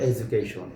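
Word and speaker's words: education: আবার এখানে এডুকেশন, এই শব্দটির উচ্চারণ হলো এডুকেশন, এখানে যে ডি বর্ণটি রয়েছে এর উচ্চারণ বাংলা বর্গীয় জয়ের মতো।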